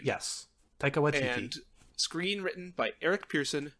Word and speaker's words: Taika Waititi: I have no idea how to pronounce his name. Yes, Taika Waititi.